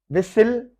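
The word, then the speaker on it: whistle: विसिल, T silent है।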